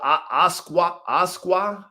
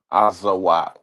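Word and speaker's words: Azawakh: And then there's the Asqua. Azawak. Azawa. Okay. Asqua. No? The K is silent?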